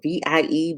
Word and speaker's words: Vie: It's spelled VIE Beauty, but it's pronounced V, and it's a hydrating rose water.